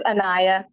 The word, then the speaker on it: Annaya: that's awesome anyone else I can't pronounce your name young lady that I refuse to mispronounce it it's annaya annaya okay I pour to